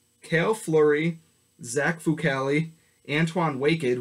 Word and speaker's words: Waked: Fleury, Zach Vucali, Antoine Waked, which is how I learned his name is pronounced this preseason. I always thought it was just Waked.